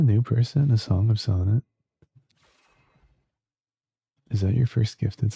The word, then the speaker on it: Sonnet: A Song of Sonnet? Is that your first gifted sub around here? Thanks so much, A Song of Sonnet. It's pronounced sonnet, by the way.